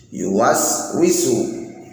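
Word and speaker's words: يُوَسْوِسُ: Yuwaswisu fi sudurin nas, pakai sin, tidak boleh pakai shad karena di sini ada shad kepancing. Yuwaswisu fi sudurin nas, tidak dibenarkan.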